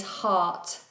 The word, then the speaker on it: heart: Ali, the pronunciation is heart. Heart. I have a heart.